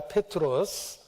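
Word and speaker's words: Πέτρος: 그리고 헬라식 발음으로 페트라, 페트로스, 베드로입니다.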